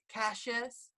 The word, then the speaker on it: Cassius: in the drawer no it's fine American say Cassius but in England yes but America every time I meet someone from America they get they call me Cassius so it's cool that Americans that's how it